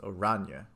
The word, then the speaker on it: Orania: Orania is pronounced Orania.